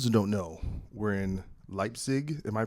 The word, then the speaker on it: Leipzig: so for those who don't know, we're in Leipzig. Am I pronouncing that correct? Oh, yeah. Yeah. We are in Leipzig, Germany.